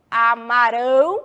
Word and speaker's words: amarão: é esta eles Amarão muda a pronúncia e vai terminar em ao combinado agora eu quero